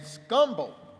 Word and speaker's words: Scumble: one Denver Savvy and scumble did I say it right you said it right scumbo ingr books have been